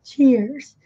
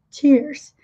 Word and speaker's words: cheers: Cheers. Cheers. No inglês britânico, eles não pronunciam o R, eles prolongam mais a vogal, né?